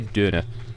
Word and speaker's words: Döner: I love how they pronounce Donna in German, because it's actually closer to the Turkish, but it just still kind of sounds funny to hear Döner.